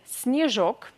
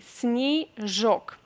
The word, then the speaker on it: снежок: So, singular form is снежок, снежок, and plural form is снежки, снежки, snowballs. So, yeah, here again we need to talk about Russian pronunciation because we say снежок. Е unstressed we pronounce as E, снежок, and then снежки.